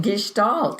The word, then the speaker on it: Gestalt: psychologist can give us some idea about what guests don't means whether I'm pronouncing it correctly and how it applies to the out world so take it away Connie all right Jimmy so Gestalt is a German word for meaning for it